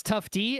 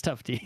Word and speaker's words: Tufte: It's Tufte, and the reason I know that is because before the show, I went on Wikipedia, and for his Wikipedia page, and there's one of those little speaker icons. And you clicked on it. Names. You can click on it and hear the pronunciation, so it's Tufte.